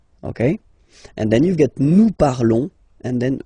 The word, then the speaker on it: nous parlons: Nous parlons, okay? Remember, final S is not pronounced, okay? And then this on together, they will give you the sound on, okay? Nous parlons, all right?